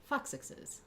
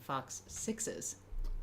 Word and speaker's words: foxixes: And Jake mentioned you do need to do a stronger stress on that initial syllable to really get the foxixes. Foxixes because otherwise it just sounds like you're saying fox sixes.